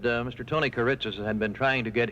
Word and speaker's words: Kiritsis: media played the event into the life of Kiritsis himself. How do you pronounce the name? Kiritsis.